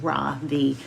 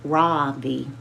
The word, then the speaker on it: Ravi: My first name is Ravi is pronounced ravi with a soft ra and a strong v. In Sanskrit, it means the sun. In America, people call me ravi with a stress on the first syllable.